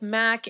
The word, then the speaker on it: Mac: Maurice referred to him as Mace, but no one ever called him that.